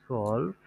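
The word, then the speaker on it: zwölf: হাল সলভ ওয়া আচ্ছা হাল সলভ এখানে ও তে একটা উমলা উঠাও হ্যাঁ সলভ হুয়া মোটামুটি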